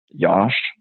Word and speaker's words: Yosh: a different pronunciation so my name is josh so like the way i used to pronounce it was like yosh so it's like you